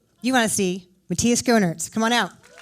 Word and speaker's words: Schoenaerts: to see me you want to see matthias groners come on out i work so hard to get your name right i've heard it pronounced so many ways and they're all wrong so do it again schooners that's it i'm so close thank you so